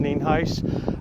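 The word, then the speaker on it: Nienhuis: County Sheriff ninheis spelled n-i-e-n-h-u-i-s and it's pronounced neenheis we're here out at cheever Road in Hernando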